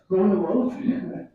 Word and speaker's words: Gronewald: Yes, I pronounce myself Gronewald.